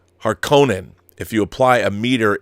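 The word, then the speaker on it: Harkonnen: the harken in pronunciation I believe the world the word is supposed to have an oot harkonen if you apply a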